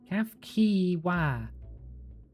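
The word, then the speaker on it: Cahciua: CF CE calf kiwa not qui cf kiwa I will forget again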